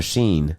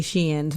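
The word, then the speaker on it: Shein: are you saying yeah or sheen it's spelled s-h-e-i-n i say i used to say sheen but i heard people say she ends but i spent recently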